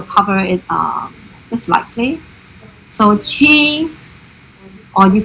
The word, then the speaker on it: qi: And in Cantonese, CHI, or so in Mandarin is Qi, in Cantonese it's actually Hei.